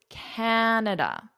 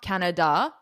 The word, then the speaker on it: Canada: So a lot of students will put the stress on the wrong syllable, or they won't put any stress on it. So it's Canada. It's not Canada.